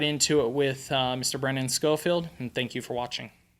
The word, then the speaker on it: Schofield: How do I pronounce it? Because I'm great at butchering. Yeah, Brennan Schofield. Schofield.